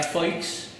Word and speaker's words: Foix: Es decir, Catalina, te diría Foix, porque es como se pronunciaba en la época, y Catalina, pues entre